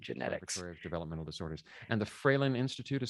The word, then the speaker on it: Fralin: developmental disorders and the freylin institute is spelled hell f-r-a-l-i-n that seems straightforward enough it is it is phonetic as so few things